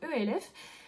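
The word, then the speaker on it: E.L.F.: commande chez la marque elf où elles suivront comment vous le pré vous prononcer je sais normalement c'est elf est en fait là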